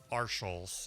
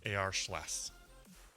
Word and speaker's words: AR Schless: In case anybody was curious, that's how you actually pronounce Aaron's handle, because his name is Aaron Schlesinger. So when you say it, it's not Arschels, it's AR Schless.